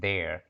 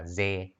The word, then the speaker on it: there: Bạn sẽ đọc là ze hoặc là de, không phải ha. There, cái lưỡi mình sẽ nằm ở giữa hai cái hàm răng của mình á, lè ra ha.